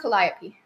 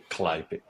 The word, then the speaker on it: Calliope: It's pronounced Calliope. Calliope? Okay, thank you. Calliope.